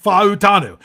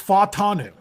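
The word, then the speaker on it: Fautanu: Jim had always said pronounce all the vows as their own syllables. Futanu. It's not four syllables. It's only three. So it's fatanu.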